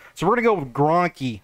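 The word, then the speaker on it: Grankkey: i always call him he said it's g-r-a-n-k-k-e-y that's sort of how you pronounce it so we're gonna go with gronkey not just gronk you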